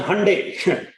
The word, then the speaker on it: Hyundai: Some of the executives from major companies like Hyundai Motors, actually pronounced as Hyundai, Apollo Tires, IBM, TCS, Ford Motors, L&T, Ashok Leyland, Mahindra and Mahindra, etc., have been regularly joining the program.